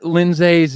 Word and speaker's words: Lindsay: It's the Dutch pronunciation, right? It is the Dutch. It is the Dutch. Yeah. It's Lindsay. Last name hyphenated.